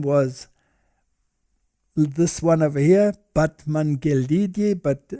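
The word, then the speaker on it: Batmanghelidj: this one over here batman gildi but apparently you pronounce it but mangalesh now he was an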